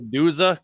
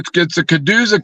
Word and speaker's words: Caduza: the Chiduza cook-off. Is that what it is? Well, it's a Caduza cook-off.